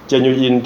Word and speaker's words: genuine: genu in เนี่ย เออ หลาย ๆ คน ชอบ ออก เสียง เป็น genus นะ จริง ๆ ไม่ ใช่ genus นะ geni กด อีก แบบ นึง นะ genu in temporary entry ก็ คือ